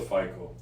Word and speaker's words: FICO: How how do you pronounce that? We call it FICO.